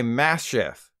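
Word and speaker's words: Maschiff: but for now you should call this guy Mass Chef I masterfully debated whether or not I should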